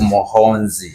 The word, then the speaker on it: Muhoozi: There's a way you pronounce Muhoozi because it's Muhoozi here we call him Muhoozi. I say Muhoozi. It's Muhoonzi and people love it.